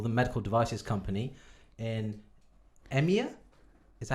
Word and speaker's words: EMEA: like to call them medical devices company in emir is that how you pronounce it yep what's the emea stand for